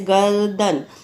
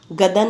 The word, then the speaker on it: गर्दन: तो यहाँ पे आधा रा का उच्चारण आ रहा है ना, जैसे गर्दन, गदन नहीं बोलेंगे।